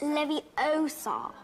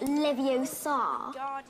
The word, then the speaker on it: Leviosa: take someone's eye besides you're saying it wrong it's Leviosa not live you sod you do if you're